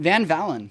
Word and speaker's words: Van Valin: say your last name Van Valen Van Valen I'm so bad with names Van Valen it's like the V sound as a German it's really bad I